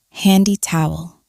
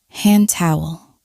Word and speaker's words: hand towel: We don't usually say handy towel. We link it and say hand towel, hand towel.